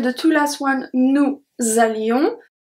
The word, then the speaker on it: allions: Then we have the two last ones, nous allions. As usual, the S at allion is not pronounced. And then we have the link, nous allions.